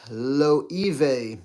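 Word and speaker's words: Loewe: with performance out of my Zara fragrances it's pronounced Lo E I know it's hard to pronounce the first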